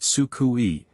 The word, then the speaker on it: Suku: I have decided to call her Suku, pronounced Sukui.